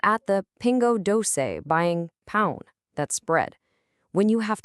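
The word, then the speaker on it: pão: When you're at the pingo dose buying pound, that's bread.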